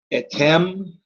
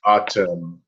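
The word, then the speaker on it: אַתֶּם: Etem melachim. You are the kings. Oh, she's back. Just watch your vowels. It's atem. Atem.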